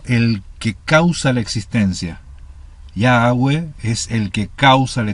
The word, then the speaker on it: Yahweh: Yahweh. Yahweh. O Yahweh, ¿sí? El tema es que no son 3 sílabas, son 2 sílabas.